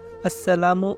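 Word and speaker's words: السلام: আসসালামু এর শুরুর হামজা এবং মিমের ফেস স্পষ্ট করে উচ্চারণ করতে হবে।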